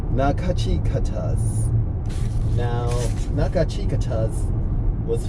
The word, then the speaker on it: Nachiketas: That's why I'm always looking at this paper, because it's pronounced Nachiketas.